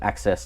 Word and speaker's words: AXS: I believe they pronounce it Access TV.